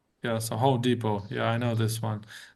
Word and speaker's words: Home Depot: intuitive, you know, because the T doesn't get pronounced and the O is you like, you know, like kind of long. Yeah. Yeah. Yeah. So, Home Depot.